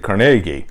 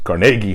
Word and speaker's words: Carnegie: places like Carnegie Hall its Carnegie Hall but most people again pronounce it Carnegie and this is a